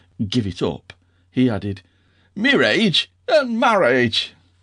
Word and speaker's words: mirage: Asked Uncle Benjamin, and not waiting for Valency to give it up, he added, Mirage and marriage. M-I-R-A-G-E is pronounced mirage, said Valency shortly, picking up her tea and her beans.